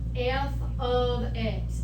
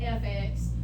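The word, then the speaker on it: f(x): X we read this f of x and I expect you to know that that is how you say that so don't say FX you would say F ofx everybody okay there so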